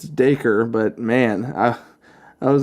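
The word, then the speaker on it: Dacre: dude is freaking Australian I was trying to figure out how to pronounce his first name it's it's de coeur but man I I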